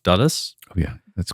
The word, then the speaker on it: Dulles: I think it's pronounced Dulles.